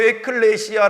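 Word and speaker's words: ἐκκλησία: 입니까 뭐가 그래 입니까 교회를 원어로 에클레시아 라고 발음합니다 이 클레시아 꽃 무슨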